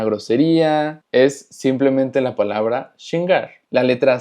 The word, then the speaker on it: xingar: Y finalmente tenemos xingar, que xingar significa ofender o molestar.